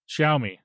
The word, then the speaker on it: Xiaomi: The Xiaomi 14 and 14 Pro. I mean, you're not horribly far off. Oh, I tried. What is it? Xiaomi. Okay. Xiaomi.